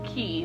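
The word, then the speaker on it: quay: The exceptions are liqueur and it's key, but it's spelled Q-U-A-Y.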